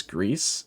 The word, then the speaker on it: Gris: the Xbox um what it's not Grizz it's grease it's pronounced Greece oh I didn't know